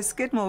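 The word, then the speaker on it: Scudamore: sort of American adaption now Skidmore was the original pronunciation and over the years I suppose they call people there um the way they form their letters changed and so Skidmore became scooter more but originally when they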